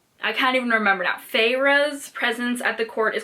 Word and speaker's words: Feyre: of a fairy fire how did i decide we were pronouncing her name figure favorite i'm i'm googling pharaoh pharaoh feyre okay okay so it's feyre that makes more sense